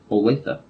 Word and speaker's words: Olathe: Olathe? Yeah. Is that how you pronounce that? Yeah. Olathe.